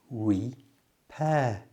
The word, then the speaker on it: repair: The only difficult word here is repair, because it has 2 R's. one at the beginning, which is followed by a vowel sound, the E, so it's lips forward, re. But the one at the end doesn't have a vowel sound after it, so it's just air, repair.